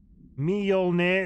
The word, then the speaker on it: Mjolnir: Mjolnir isn't even close, but the me and the yol are one syllable. Mjol. Mjol? Mjol. Mjolnir. Right? Mjolnir.